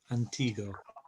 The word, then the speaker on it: antiguo: And Antigo, we're not pronouncing the U unless it has the heresies. It just hardens the G. Antigo.